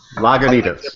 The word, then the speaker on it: Lagunitas: like Zenith along what ya want longer Jesus lagunitas yep yes I like their pick stuff their